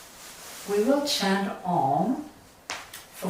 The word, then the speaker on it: Om: And Om, as Om is 3 syllable, the primordial vibration of the universe. So it's A, U, M.